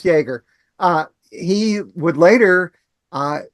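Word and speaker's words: Jaeger: It's pronounced Jagger.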